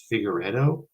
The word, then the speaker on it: Figueredo: maybe three years at this point Mr Mike figueredo did I pronounce it yeah no that was that was